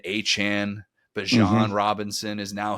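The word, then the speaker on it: Achane: We had the whole Devon Achain turns into Achan, but Jean Robinson is now his name is how he's being known because he finally told people about that.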